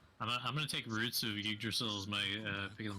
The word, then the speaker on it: Yggdrasil: Oh, Yggdrasil. Yeah. Yeah. Or Yggdrasil.